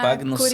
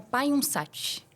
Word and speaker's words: Pagnussati: Tem uma Pagnussati. curiosidade, assim, porque no português, né, Pagnussati, mas no italiano se pronuncia Paiunsati.